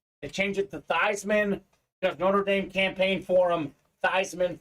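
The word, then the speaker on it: Theismann: Stephen in college uh his name was actually pronounced Joe these men they change it to Theisman Notre Dame campaign Forum Theisman for the house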